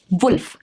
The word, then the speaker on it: wolf: Wolf, not wolf. Wolf. Worm, not warm.